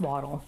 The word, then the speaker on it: wattle: do you spell it it says this w-a-t-t-l-e why it's called the turkey but then but it's pronounced waddle waddle and then it